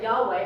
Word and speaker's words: Yahweh: God way okay so Yahweh then and in and that's what we pronounce it Yahweh as if it's spelled like yeh weh and then spent Latin